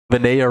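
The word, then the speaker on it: Vanea: Vinaya rhymes with Galea.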